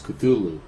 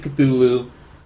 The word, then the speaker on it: Cthulhu: And I say, well, okay, I pronounce it Cthulhu, but, in the book, in the story, it specifies that there's no actual way for us to pronounce Cthulhu. It's just kind of an approximation because we can't actually pronounce it.